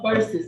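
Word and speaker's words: Verzuz: so who's the house it's v-e-r-z-u-z z-u-z the show versus not very premiums do you see any cruz's in there that's the way they pronounce it i'm telling you not be black it's called verses i'm telling you how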